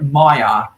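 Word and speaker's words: Myer: going to go to maya which is a department store in australia that's different from that's different from the two different maya department stores in the us al maya is spelled m-y-e-r one of the mayas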